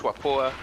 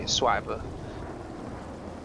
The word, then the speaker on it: Schwapor: It's kind of like Swiper, but it's pronounced Schwapor. But if you can't pronounce Schwapor, you could just say Swiper.